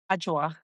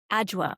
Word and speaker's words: Adwoa: Am I pronouncing your name correctly? Adwoa. Adwoa. Okay, Adwoa.